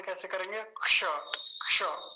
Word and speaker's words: क्ष: तो इसका उच्चारण कैसे करेंगे, क्ष। क्ष, क की आवाज तो बहुत थोड़ी सी आएगी, या फिर इसकी अच्छी आवाज तो तभी आती है जब ये किसी के साथ जुड़ा होता है।